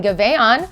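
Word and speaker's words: Giveon: Fontainebleau is going to be hosting Gaveon, that's how you say it, on October 10th, and Marca MP on October 11th.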